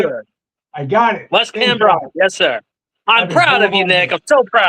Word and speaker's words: Wes Cambron: Wes Cambron.